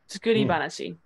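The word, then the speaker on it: 作り話: Oh, actually, this is even though it's banashi, it's pronounced as banashi in this context. Tsukuri banashi.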